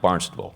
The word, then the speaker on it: Barnstable: By the way, Rory, it's pronounced Barnstable, the town.